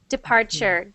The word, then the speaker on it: departure: good so that sounds like a CH at the end instead of a Tor so not depart departure good depart good and for everyone who sees this whenever something looks like that it is pronounced sure like that and again I don't